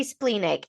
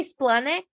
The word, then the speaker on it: splenic: what's so funny is a lot of people do say spleenic and I say splenic but I think it's